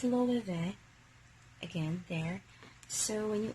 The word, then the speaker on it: Loewe: So, according to my research, the correct pronunciation is Loewe. So there. It's a Loewe bag, and it has a replacement sling already.